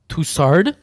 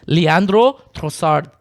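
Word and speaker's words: Leandro Trossard: we got to start toussard like bro like this is a soccer podcast and this man does not even know how to pronounce a guy's name it's leandrosard okay get it right or just don't say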